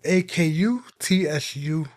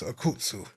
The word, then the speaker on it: Akutsu: And it's spelled A K U T S U hyphen san. Or Please Go Home, Miss Akutsu.